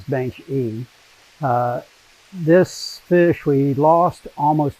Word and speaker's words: baenschi: how it's pronounced natively you pronounce it the way the person's name is pronounced says bench e this fish we lost